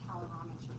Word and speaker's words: calorimetry: Calorimetry. Like a calorie, but it's calorimetry.